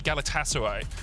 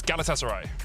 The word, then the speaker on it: Galatasaray: I just had a couple of tweets saying, "Don't say Galatasaray." So, it's Galatasaray.